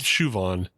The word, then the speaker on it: Siobhan: And I guess Shu is short for, I think you pronounce it Shuan. Yeah. She's Shuan. She's Shuvan. Yeah. And then there is Siobhan, but she's Shuvan because she has a U in it.